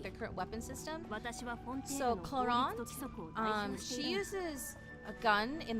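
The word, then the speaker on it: Clorinde: So yeah, the English in the English dub, they use the proper pronunciation of Clorond's name because it's a French name. In Japanese, it's Kurorinde. Clorond enters the night vigil state after using her elemental skill.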